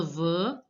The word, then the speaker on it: veux: Que je veux. Last X is not to be pronounced.